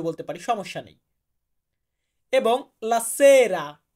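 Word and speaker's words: la sera: এবং লাসেরা, এখানে লাসেরা উচ্চারণটা এমন না, লা হচ্ছে আর্টিকলের জন্য, লা বাদ, সেরা, সেরা মানে হচ্ছে সন্ধ্যা।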